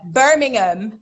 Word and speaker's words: Birmingham: Now, there's a Birmingham, obviously, down south in America, but which is Birmingham. But Birmingham, how we pronounce it, but it's spelled the same way, is outside of London.